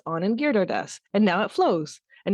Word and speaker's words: Anand Giridharadas: And when I do that, I can have faith that the next time I go to say Anand Giridharadas, who's like this great writer in the States, who I asked and he sent me his name drop.